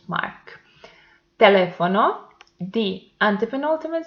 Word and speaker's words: teléfono: Teléfono, the antepenultimate syllable is the stressed one, so it belongs to esdrújulas, and it has the accent mark.